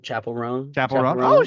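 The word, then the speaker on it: Chappell Roan: Chapel Roan.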